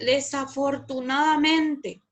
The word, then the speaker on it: desafortunadamente: Bueno, aquí también les agregué desafortunadamente, una palabra cuya polémica y discusión técnica contiene 8 sílabas. Desafortunadamente. Es una palabra grave que también se lo llama llana o paroxítona.